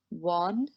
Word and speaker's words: one: A united, a one, an hour. A united sounds like a y sound, so we use a. One begins with O, a vowel, but it sounds like w, w, a consonant, so we use a.